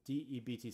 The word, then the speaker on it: debt: saying okay dead it's spelled with D EBT spelled with a silent B where'd the baby come from aha I paid attention to number one so I know it used to be now be pronounced in English depth and because of Guttenberg mr. Byrnes we now say debt but we used to say depth and we write debt and it doesn't match up and all that actually